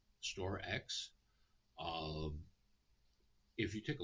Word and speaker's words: StorX: StoreX. Now, I want everyone to be careful with this. It's spelled STORX, and its trading ticker is SRX.